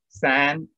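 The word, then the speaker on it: 三: And how is 3 pronounced? San, San.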